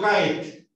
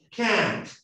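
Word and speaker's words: cat: La pronunciación de eso no es una AE. Yo no digo kaet. ¿Cómo se dice gato? Can't. Can. Esa A no es la A del castellano, ¿cierto?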